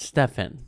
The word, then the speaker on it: Stefan: It's spelled Stefan.